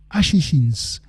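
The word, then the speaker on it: Os Axixins: rôle dans courtmétrage brésilien os axixin prononcé Ashishins ont tripé sur un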